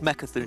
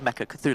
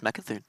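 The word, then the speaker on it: Mecha'thun: right the first time it's Mecca through priests as well there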